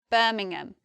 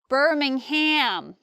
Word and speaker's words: Birmingham: we've got Birmingham Birmingham many people many Americans say Birmingham whereas anyone from England will say Birmingham or someone actually from there would say something like Birmingham but I'm from the South of England I'm from London and we just say Birmingham next we've got Nottingham